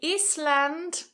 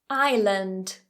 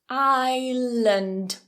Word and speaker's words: island: that s and say Eastland silent s island island so that second one isn't land it's not strong it's a schwa Lund land land strong